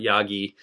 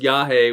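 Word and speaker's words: Yage: I'm like, I'm not going to call it Yagi or Yagi. And I had people clowning me in the comments. So, it's pronounced Yahi, which is a reference to Iawaska.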